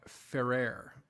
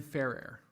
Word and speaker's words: Ferrer: By the way, last name is pronounced more like Ferrer. So Ferrer. Okay, cool. I will try and remember that. I'm sort of catching on here. Ferrer, rolling the R, Ferrer, for proper Spanish.